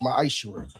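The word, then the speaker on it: מעשר: Means 10th in Hebrew, and it's pronounced ma'ashur.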